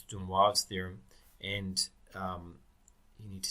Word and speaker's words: de Moivre: A lot of people pronounce de Moivre's theorem in some very strange ways. Okay, it's not Moivre's theorem. That's awful. Don't say that. All right, it's de Moivre's theorem, and you need